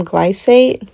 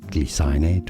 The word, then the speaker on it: glycinate: Glycinate, not glys-i-nate or gly-sin-ate. Gly-cin-ate, with a stress on the first syllable. Gly-cin-ate. But, back on the topic of this magnesium glycinate, um has anyone tried valerian root?